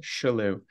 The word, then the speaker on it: Chellew: my last name is spelled or is pronounced Chellew. Chellew. So the Okay. CH is a soft, kind of like Richelieu.